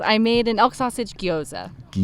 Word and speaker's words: gyoza: And you've told me 10 times what it is, and I still can't pronounce it. Yes. I made an elk sausage guoza. Guyoza.